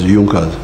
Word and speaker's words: Junkers: It is written Junkers but they pronounce it as Junas.